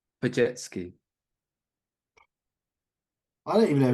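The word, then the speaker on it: Podziemski: I've set you up to fail on that one because that last name is one of those European. Well, I assume it's European that doesn't actually pronounce how it looks. So it's Brandon Pajetsky.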